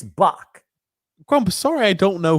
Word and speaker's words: Bach: It's Bach, not Batch. There's no T in there. It's Bach.